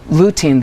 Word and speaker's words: lutein: mentioned for eyes too lutein is am I pronouncing it right lutein that's right is a really important antioxidant that